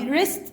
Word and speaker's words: wrist: طيب ريست الدبليو سايلنت.